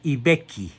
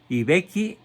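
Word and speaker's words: I Becchi: Nace pues el 16 de agosto de 815 en Ibecchi. Se escribe I, que significa el, Vecchio.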